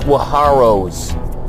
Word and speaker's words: saguaro: Lots of saguaros on this one. Hey, it's pronounced swaharos. Swahuros. Swaros. Pronounced swaros.